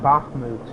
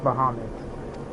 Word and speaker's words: Bahamut: hold dear Bahamut also it's not bahmut it's it's so it's not pronounced bahmut it's pronounced Bahamut what of the hero